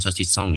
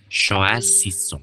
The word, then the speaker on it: choisissons: Bukan sosis ya, bukan sosisong ya. Bacanya choisissons. Karena kalau sosisong itu artinya sosis babi.